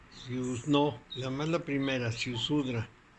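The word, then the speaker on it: Ziusudra: Con Z, Siusudra. Z-I-U, Siu, Sudra. Siusudra, con las dos con Z. No, la primera, Siusudra.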